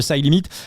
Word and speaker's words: CYLIMIT: Le coup tordu ambassadeur de Side Limit. Side Limit, ça s'écrit CYLIMIT.